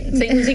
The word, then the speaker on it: St. Lucie: St. Lucie County Transit.